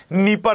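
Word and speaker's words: Dnieper: sir Ukraine स्थित है नीप नदी के किनारे यहां पे डी साइलेंट है यह क्वेश्चन मोस्ट एक्सपेक्टेड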